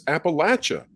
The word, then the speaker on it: Appalachia: uh he he uh the word Appalachia was brought up and I I think I pronounced it that way appellation or Appalachia and I was criticized by people from that area who said it's Appalachia and uh so I